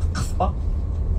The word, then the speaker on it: Casbah: So Casbah, which is the right pronunciation, means bamboo tree, okay?